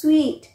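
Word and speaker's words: suite: पसंद है so remember S यू आई टी ई इट इ प्रोनाउंसड एस स्वीट और एस यू आई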